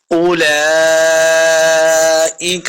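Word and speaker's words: أولئك: اولئک، بیچ میں واو خالی ہے تو واو خالی ہی رہے گی، ہم نے اس کو نہیں پڑھنا. اولئک، کاف کو موٹا نہیں کریں گے.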